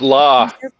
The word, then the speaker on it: LA: Pre-order both thrilling issues of Lords of LA today, written by award-winning screenwriter and novelist Frank It's Sanka, pronounced Law.